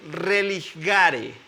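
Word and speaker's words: religare: verbo latín sí que más o menos se pronuncia así religaré religar el religar sí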